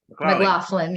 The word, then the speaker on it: McLaughlin: Am I pronouncing it right, Jody? McLaughlin, yeah.